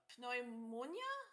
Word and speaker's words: pneumonia: lung infection no pneumonia pneumonia okay yeah pneumonia don't you pronounce the p no the p is silent I think I think it's just pneumonia pneumonia I like